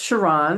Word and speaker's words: Sharon: My name is Sharon. It's pronounced Sharon, Sharon. I'm sorry.